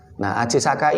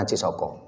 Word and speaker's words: Ajisaka: Ajisaka ini asli Jawa membacanya memang Aji Saka bukan Aji Soko karena sastra Jawa mengenal vokal O ini setelah abad ke-15 karena adanya pengaruh-pengaruh sastra Arab jadi sastra Jawa sebelumnya tidak mengenal vokal o mengenal tapi vokal O